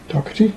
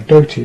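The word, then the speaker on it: Doherty: dougherty design apparently um dockety no doty design rather i keep saying it wrong um but it's a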